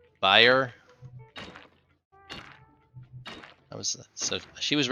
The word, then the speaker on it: Bayer: here that makes medicine that's Bayer b-a-y-e-r but I think that ends up being buyer I was so she